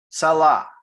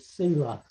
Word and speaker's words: Selah: Salah. Have you seen those in Psalms before? You Yeah, know what it means? I always pronounced it Selah.